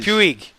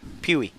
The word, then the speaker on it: Puig: hilarious on pu pu Puig Puig Puig the g is silent Pew pey all right pey I I think he's pey I don't know he's